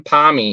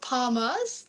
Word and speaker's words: Palmy: these 5 questions, and only 8 fools have said something other than palmy with an I. It just is like, literally, I tell people, for the ones that don't say it, you literally just spell it out and pronounce it, and that's what it is. And there's no other variation of it. No, I get a lot of palmers, but no, definitely palmy. Definitely. That's the way.